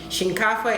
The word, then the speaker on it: shinkafa: to be making today usually it's called either Shin cava or their Shanti people in Ghana collagen cover that's when you pronounce it Shin cava and the house language means rice okay this